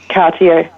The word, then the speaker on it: Cartier: Nella Chikwe is an influencer and founder of Winston Cartier, or is it Cartier? Can you pronounce it for me? Cartier, yep, correct.